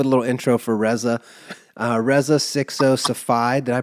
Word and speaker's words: Reza Sixo Safai: off with a little intro for Rea uh re 60 Safi did I pronounce that correctly my king you nailed it